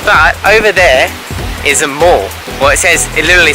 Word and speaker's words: Mall: But over there is a mall.